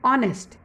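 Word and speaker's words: honest: हम क्या बोलते हैं, आर, N honourable, an ऑनेस्ट। तो यहाँ पर एस साइलेंट है, भले वो एच कंसोनेंट है, स्टार्ट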